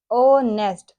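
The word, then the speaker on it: honest: Then हम यूज़ करेंगे ओनेस्ट ओ किसकी आवाज निकाल रहा है ओ की तो आप यहां देखेंगे इस तरह से हम इसको को एच को साइलेंट करके ऑनेस्ट के साथ एन लगाएंगे।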